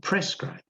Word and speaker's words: prescribe: Notice the difference between proscribe and prescribe. Notice also the tiny change in pronunciation. Proscribe, proscribe means don't do it. Prescribe means you must do it.